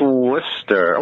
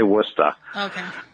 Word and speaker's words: Worcester: I live in because no one can ever say it right it's Wooster while here they say Woodstock right when it's Worcester like